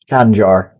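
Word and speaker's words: Khanjar: How to pronounce it? Kanjar.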